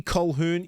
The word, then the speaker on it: Colquhoun: Next, we have Jesse Colquhoun. Yes, I pronounced it right, finally.